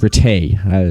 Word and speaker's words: Ratte: And she says it's pronounced Ratte. It's French.